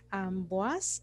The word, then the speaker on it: Amboise: el castillo primero el castillo de amboage amboage que se escribe amboise amboage es un castillo